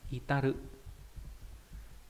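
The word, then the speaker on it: 至る: Thì cái chữ này có âm cương là itaru. Itaru có nghĩa là đạt đến. Còn ghép âm đọc là chi, ví dụ trong từ, ví dụ đồng chí này.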